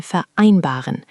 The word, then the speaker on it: vereinbaren: The V sounds like an F there, which you did well.